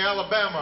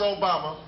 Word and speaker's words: Obama: this name barack obama although they'd mispronounce it and they call me alabama or yo mama and i say it's obama and my mother father